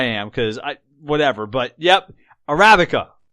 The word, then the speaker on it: Arabica: Well, I know I am, because whatever, but yep, Arabica is how you pronounce that goddamn fucking mediocre coffee bean that everybody drinks.